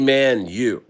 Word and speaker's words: Manyu: It's baby manu. Manu. Manu. Yeah. Manu. Manu. Like Man United.